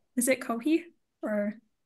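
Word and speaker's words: Coji: Is it Kohi? Or... My name is pronounced as Koji. C-O-J-I.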